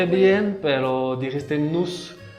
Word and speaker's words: nous: bien, pero dijiste nous. Acuérdate que no se pronuncia la S.